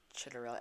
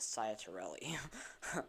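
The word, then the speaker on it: Ciattarelli: Chitterelli. I was pronouncing it Ciatarelli.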